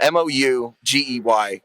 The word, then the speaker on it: Mougey: And so I Googled how to pronounce it, Mougey, and then I Googled it, and it just said it's like Moo, Gee.